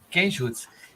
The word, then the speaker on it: Kenjutsu: Como é que se pronuncia? Kenjutsu. Kenjutsu.